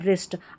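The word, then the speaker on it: wrist: फिर है WR, तो WR भी जब भी साथ में रहता है तो यहाँ पर इसको र पढ़ा जाता है क्योंकि W साइलेंट होता है।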